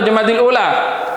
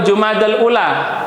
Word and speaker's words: Jumadal Ula: Eh, Jumadil Awal atau Jumadil Ula? Jumadil Ula. Jumadil Ula atau Jumadal Ula. Jumadal Ula. Jumadal Ula. Itu seringki disalah pahami. Sebenarnya pengucapan yang betul adalah jumadal ula.